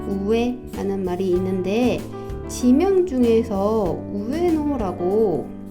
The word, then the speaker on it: 上: 합니다이 아이는 상이라는 발음을 갖고 있고요 위 오르다라는 발음으로는 혼도 우에가 있고요 우와라는 발음으로 쓰이기도 하고요 가끔 카미라는 발음도 있어요 그 다음에 동사로는 아게르가 있고요 그